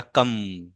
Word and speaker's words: कं: इस तरह से, और इसके सर पे एक बिंदी लग जाएगी और इसको पढ़ा जाएगा कम।